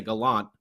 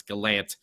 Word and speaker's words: Gallant: it right right yeah I still want to say Gallant but I know it's Galant I don't know why